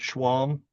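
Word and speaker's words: Schwalm: Would you state your name and spell it for the record? Schwam, r o b e r t, s c h w a l m.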